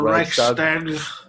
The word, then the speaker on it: Reichstag: 1920, she became a delegate to the Reichstag. The Reichstag? How do you pronounce that one? The Reichstag.